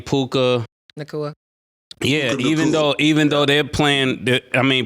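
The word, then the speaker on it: Nacua: Nakua.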